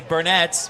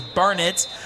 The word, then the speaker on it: Burnet: A lot of people say Burnett because of how it is spelled. It is Burnett playing Little River Academy and leading 36-7 in the second quarter.